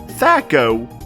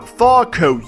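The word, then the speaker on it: THAC0: It is pronounced Thaco, not Thaco, you idiot.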